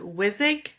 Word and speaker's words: Wissig: I'm going to probably say your last name wrong. Is it Wizik?